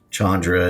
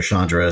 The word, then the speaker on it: Chandra: world of Jace and Chandra and all the Planaines walkers and and or Shandra, sorry, mispronounced it there a little bit.